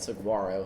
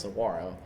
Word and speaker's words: Saguaro: Yeah, we call it Saguaro Hill, but I know it's pronounced Saguaro.